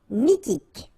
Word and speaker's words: mythique: Remember, QU at the end, k, okay? And then Y is pronounced like I. Mi, H is not pronounced. T, k. Mythique.